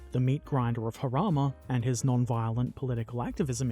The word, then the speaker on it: Jarama: Major General Bunk's entry depicts Tommy James, Lion of Harama, which I initially wanted to pronounce as Jarama, because that's how it's spelt, but the description included the pronunciation Harama, which I'm probably still saying wrong.